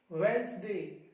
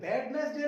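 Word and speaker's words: Wednesday: इनके अलावा देखो handkerchief, handsome, sandwich, वेंसडे, वेंसडे, वेडनेसडे नहीं होता, सैंडविच नहीं होता, सैंडविच, हैंडसम नहीं, हैंडसम।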